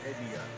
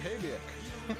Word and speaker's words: Habiak: Habia. Yep, that's how you say it. Habia. Didn't we talk about that before? Habiak.